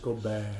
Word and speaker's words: Gobert: No, Gobert. Gobert. You have to say it like the French, Gobert.